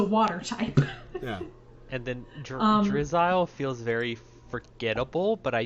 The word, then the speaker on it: Drizzile: Oh, or is There's it meant to nothing be wrong with pronounced drizzle, like the word? No, I think it's supposed to be Drizzile like reptile. I thought it was maybe drizzle like missile.